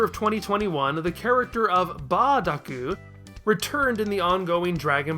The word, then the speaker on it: Bardock: And like we just saw with Retasu being substituted for lettuce, we see bur being approximated with ba.